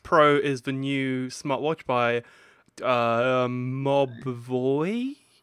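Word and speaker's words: Mobvoi: is new SmartWatch by mob boy is that how you pronounce the name mah boy yeah that is right okay cool look amigo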